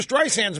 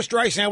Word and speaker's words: Streisand: It calls her Streisand instead of Streisand. The soft S is pronounced as a Z by Siri.